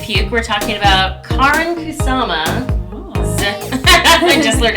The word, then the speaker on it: Kusama: of p and puke we're talking about Karin kusama I just learned how to say this 2000